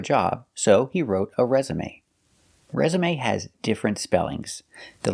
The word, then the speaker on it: resume: next word is resume it never has accent marks the pronunciation is always the same resume it's a verb it